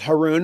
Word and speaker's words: Haroun: question he Aron um my last name is Haron as you know it rhymes with Aron when I used to